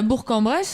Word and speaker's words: Bourg-en-Bresse: Attends, mais moi je suis déjà passé à Bourg-en-Bresse et c'est un G. Oui, c'est un G, oui, c'est ce que je te dis, mais tu devrais le prononcer, gars.